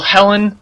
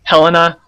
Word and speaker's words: Helena: countries a lot until helen helena it's pronounced both ways helen cooper she discovered